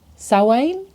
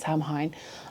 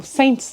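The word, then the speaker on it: Samhain: Sain. It's written Sam Hine, but it's not pronounced Sam Hine.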